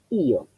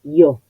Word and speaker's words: io: Ahí puedo separar io. Voy a escribir io así, porque no es una semiconsonante y no es yo, sino son dos sílabas.